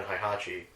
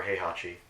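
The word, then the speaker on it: Heihachi: even more so than hi Hachi or hey Hachi I guess that's how you really pronounce it who cares yeah I'm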